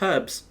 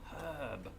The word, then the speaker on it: herb: know about us brits we often pronounce the word h as h we put an h on the word h which there isn't one actually weirdly enough this is getting all confused um but it's herb herb although we don't pronounce the r in in herb those brits either unless